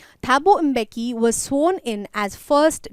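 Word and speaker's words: Mbeki: president alright then थाबोर पे एम का जो साउंड होता है इट्स not silent it इज a inky की तरीके से बोला जाता है थाबू इंबे की वाज सोन इन एज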